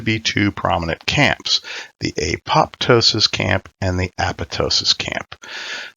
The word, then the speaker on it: apoptosis: use the silent p pattern qed the intended pronunciation was is and ever shall be apoptosis so now that we know how the word